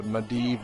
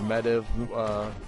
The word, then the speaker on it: Medivh: you know what was a medivh or medev depending on how you say his name you know he that